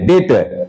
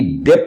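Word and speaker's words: debt: कहा जाता है बैड डेट यहां भी बी साइलेंट है बी डेप्ट नहीं पढ़ना है डी ईटी डेट बी को साइलेंट कर देना है ठीक है बैड डेट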